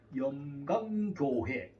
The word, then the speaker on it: 염광교회: 만명이 넘겨오는 영광이 영광교회잖아요 여미의 영이 아니고 염이에요 항상 발음할 때 주의하셔야 됩니다 염광교회 환란 거 제가 이제